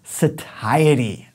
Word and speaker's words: satiety: that next word is satiety now it kind of looks like satiate likes a shitty om has say shitty but don't pronounce it that way make sure you put the emphasis on this first Tisa tidy and it's